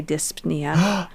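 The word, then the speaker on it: dyspnea: is p is silent and dnia I like to say disia do you say the p I like to cuz it helps me to remember how to spell it what a maniac it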